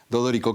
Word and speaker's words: D'Odorico: Es Dodorico y se pronuncia tal cual está escrito.